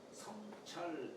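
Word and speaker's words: 省: 성찰 극치지공이요. 성찰은 이게 살필성자는 뭡니까? 적을 쏟자에다가 눈목자로 썼으니까. 예. 우리 생략한다는 뜻도 되지만은 생략할 때는 생이라고 읽지만은 살핀다라고 할 점에는 성이라고 읽어요.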